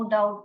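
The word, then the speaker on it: doubt: आपको और एक बार रिपीट करना है नो डाउट ma'am okay no डाउट डाउट डी ओ यू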